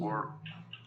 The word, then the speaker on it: worked: Worked. Wait. con una T al final, worked.